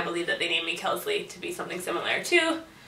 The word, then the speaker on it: Kelsley: name is Wellesley, and it's not spelled the same way, but it's pronounced the same way, so that's really ultimately why I believe that they named me Kelsley, to be something similar to my other family members.